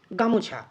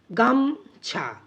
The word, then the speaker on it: গামছা: generally উচ্চারণ করে থাকি আমরা গা মছা এভাবে উচ্চারণ করি না আমরা উচ্চারণ করি গামছা অর্থাৎ দি বা দুই